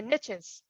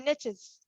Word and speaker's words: niche: riches are in the niches yay or nay yeah yeah and i say niche because that's that's the proper french way but niche is the way most americans say it and it kind of